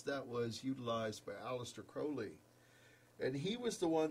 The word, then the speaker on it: Crowley: And what a lot of people don't know is, they want to create some kind of thing where they're saying, Crowley rhymes with holy.